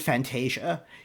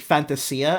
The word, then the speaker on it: Fantasia: I pronounced it Fantasia, like the Disney thing, Fantasia, And then when I heard the song, I noticed they pronounced it Fantasia, and I was like, okay, I'll go with it, So, yeah, it's I almost picked.